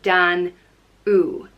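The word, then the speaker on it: Danú: that is Danu and it's spelt and with a father over the UDA and you father and what a father is it's an accent over vowels that changes the way they sounded elongates them so Danu and it's pronounced dan ooh danoui danoui is considered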